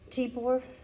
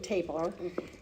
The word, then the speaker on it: Tibor: they liberated at Mauthausen, Tibor Rubin. Rosalie taught me how to say it. I was saying Tabor, and she gave me a lesson.